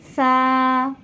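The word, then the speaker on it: ث: উপরে 2 নক্তা, তা, সা, সায়ের উপর 3 নক্তা, সা। এই সা উচ্চারণের সময় সামনের 2 দাঁতের মাঝখান থেকে সামান্য একটু জিহ্বা বের হয়ে আসবে, সা।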